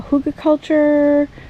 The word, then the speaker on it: Hugelkultur: doing is I'm doing a sort of uh Huga culture I believe is how you pronounce it hu Huga culture um type setup